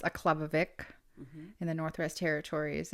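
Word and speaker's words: Aklavik: mom was born born in aklavic uh it's pronounced aklavic in the Northwest Territories it's a place of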